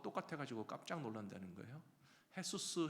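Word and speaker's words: Jesús: 가지고 깜짝 놀란다는 거예요 헤수스 헤서스라고 부르지만 스펠링은 분명히 예수님이랑 똑같은 지저스라고 되어 있거든요 그만큼 기독교의 영향을 받은 그런 히스패닉 피플 가운데는 햇수스라고 하는 예수님의 이름을 가지는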